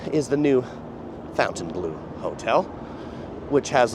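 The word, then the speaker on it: Fontainebleau: it is not the fountain blue is pronounced differently I beg to differ if it's pronounced in French it is pronounced differently but this hotel calls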